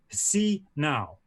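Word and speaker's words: 洗脑: are talking about what they would call see now which in the way Giles for those of academics among you is spelt HSI nao and in the pinyin the more recent form is spelt X I see nao it is said to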